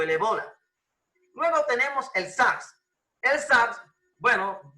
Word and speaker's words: ébola: como no tiene acento en la verdadera producción pronunciaciones ébola y éste ébola creó pánico en los atlas